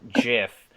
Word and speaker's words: GIF: I say GIF mostly just because I think it sounds nicer. I like the soft G. Uh, and people are like, uh, that's not how the G would sound in that scenario. I'm like, you ever heard of a giraffe? You ever heard Geronimo?